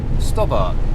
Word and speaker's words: Stobart: And I asked the question, is it pronounced Stobbart or Stobart? And I was told by the man himself, Stobbart. And over the years, it just seems everybody calls them Stobart.